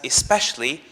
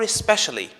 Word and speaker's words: especially: The word especially is pronounced as especially or especially with a schwa after the sh sound.